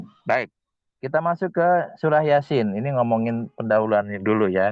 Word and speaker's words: Yasin: Yasin bacanya begitu.